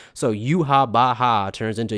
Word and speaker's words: Yhwach: you factor in that W's are pronounced like V's in German it becomes extremely clear that they're only using a b sound to approximate a v sound so yuab Baha turns into yuav because Japanese doesn't have